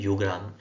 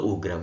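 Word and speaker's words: Ugram: तो आपको बताना है उग्रम क्या है, या आप ऐसे पढ़ सकते हैं युग्राम, वैसे इसका प्रोनाउंसिएशन हमारे हिसाब से तो उग्रम ही होगा, ठीक है।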